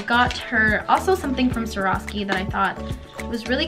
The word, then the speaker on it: Swarovski: So I just picked up two things from Swarovski, that's how you say it.